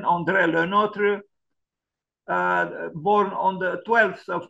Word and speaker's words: André Le Nôtre: This is the pronunciation. André Le Nôtre, born on the 12th of March, 1613.